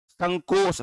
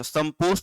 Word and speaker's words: संकोश: संकोश, संपोष नहीं, संकोश।